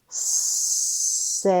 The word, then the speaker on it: safe: E is silent. A says his name. Let's sound out this word. Safe.